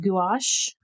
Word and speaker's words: gouache: I think it's pronounced gouache.